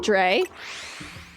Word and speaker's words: Drea: Is it Dre? Is I want to make sure I'm pronouncing it correctly cuz I'm just going to call you Dream Sauce until I know I'm Can Cheddar be shiny? I wish. I wish. Drea. Drea. Got it.